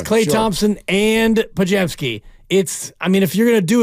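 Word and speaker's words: Podziemski: He got closer, but he called him Pazemski. There is a Z in there, but you're not going to pronounce it.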